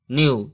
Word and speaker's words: knew: ठीक है, अगला एग्जांपल इसी तरह है, जैसे KNEW क्न्यू नहीं पढ़ेंगे, इसको पढ़ेंगे, केवल के को हम साइलेंट रखेंगे और इसको पढ़ेंगे NEW यानी न्यू, इसको पढ़ेंगे न्यू।